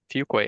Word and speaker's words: Fuqua: Fuqua is how you pronounce it, Director of Software Engineering at the EdFi Alliance, which is a program of the Michael and Susan Dell Foundation.